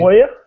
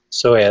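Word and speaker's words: Sawaya: a medium, particularly with Nathan how do you pronounce his name? Sawyer. Sawyer, there you go.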